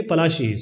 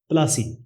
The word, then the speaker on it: Palashi: As I said, Palasi is actually Palashi. So English people cannot pronounce this Palashi. So they started talking, or they started naming it as Palasi.